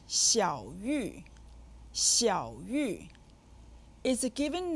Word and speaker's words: 小: 小 is said with the 3rd tone.